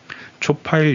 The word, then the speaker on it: 초파일: 번째 8일 이라는 뜻입니다 촉 8 이라고 읽어야 하지만 석가탄신일을 뜻할 때는 초 파일로 읽고 파리 를 뜻할 때는 초 8일로 읽습니다 음력 이기 때문에 매년